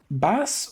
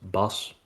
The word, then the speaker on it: Bas: the way is it bass or like am I saying that right um yeah that that works fine so in my native language Dutch it's pronounced boss but um how whatever